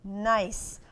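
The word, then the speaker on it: gneiss: it is what's this that one is called nice only it's spelled G and E is a nice I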